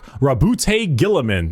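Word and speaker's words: Roboute Guilliman: Rabbout Gillamin.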